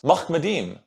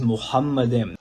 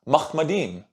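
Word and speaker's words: מחמדים: The word in Hebrew is Muhammadim. But here on planet Earth, all Hebrew linguist scholars are unanimous that the word is pronounced Mahmadim.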